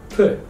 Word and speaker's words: پ: P.